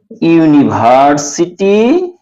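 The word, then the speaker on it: university: এন হবে এমন কথা নয় যেমন ইজ এ ইউনিভার্সিটি স্টুডেন্ট এখানে লক্ষ্য করেন হি ইজ এ ইউনিভার্সিটি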